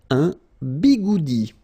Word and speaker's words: bigoudi: Un bigoudi. It's quite funny to pronounce, isn't it?